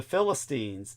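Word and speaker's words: فلسطين: In fact, in Arabic, it's it's pronounced Philistine.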